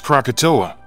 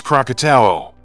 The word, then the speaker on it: Krakatau: ANAK KRAKATAU stands as one of the most renowned volcanoes globally, yet its name is often mispronounced. Many mistakenly refer to it as Krakatoa, when its official name is KRAKATAU.